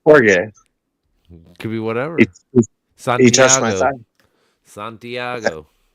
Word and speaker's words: Jorge: for you should probably pronounce his name right Jorge one yeah that's horge could be whatever San